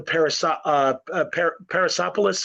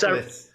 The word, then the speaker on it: Persepolis: American comics, we were starting to see the Parasopolis, or I'm saying it wrong, but blankets. Persepolis.